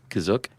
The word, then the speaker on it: Kashyyyk: And, uh, what How did you pronounce it again? Kashyyyk.